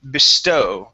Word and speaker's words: bestow: So our stru our stress is going to go at the end of the word. Okay. And the uh the e, we're going to sort of treat that like a schwah. We're going to say bes bestow. Bestow.